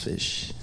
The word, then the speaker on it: Ghoti: So it's pronounced Fish, but it's spelled GHOTI.